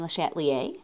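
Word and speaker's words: Le Chatelier: some examples so there's a French scientist named lattier that's how you say his name there and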